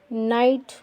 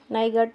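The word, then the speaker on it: night: जी एच का मतलब जी एच का उच्चारण नहीं होता है। कैसे नहीं होता है? देखो, फाइगट नहीं बोलेंगे, इसको बोलेंगे फाइट। नाइट, नाइगट नहीं पढ़ते हैं, फॉट पढ़ते हैं, फॉगट नहीं पढ़ते हैं।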